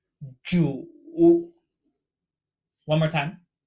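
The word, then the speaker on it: 主: lord or host, pronounced Zhu. Zhu. One more time. Zhu. This character sounds very similar to Jew in English.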